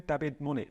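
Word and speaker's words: Dabiz Muñoz: Dabiz Munoz. Dabiz Munoz. I'll go with your pronunciation.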